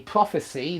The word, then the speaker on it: prophecy: an AI to prophesy but as a noun a prophecy the prophecies of nostradamus is prophecy so prophesy verb prophecy noun okay I hope that's all